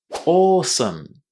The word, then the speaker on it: awesome: Awesome. Awesome. Really? really difficult. Yeah. The a w at the beginning of this word is simply pronounced as a long o not o or awesome.